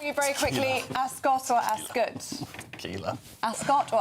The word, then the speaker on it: Ascot: I've covered it for a few years now for GB News and they they tell you straight up it's Askot, spelled with the U.